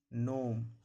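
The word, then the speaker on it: gnome: जब किसी वर्ड में जी के बाद एन लगा रहे। जब भी जी के बाद एन रहेगा, जब भी जी के बाद एन रहेगा, जी साइलेंट रहेगा। रिजाइन, डिजाइन, नोम, साइन।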